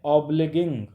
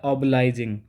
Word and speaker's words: obliging: Sorry, इसका pronunciation हमने गलत कर दिया। इसका प्रोनाउंसिएशन होता है ऑबलाइजिंग। ठीक है, ऑबलाइजिंग, that is नॉट ऑब्लिगिंग, that is ऑबलाइजिंग।